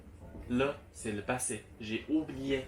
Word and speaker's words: 了: Et le. L-E. Et Comme c'est le ton neutre. Donc il n'y a pas de ton.